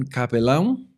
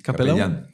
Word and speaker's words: capellán: una cosmovisión así que yo era un capelán Cómo se dice capellán capellán eso que estás hablando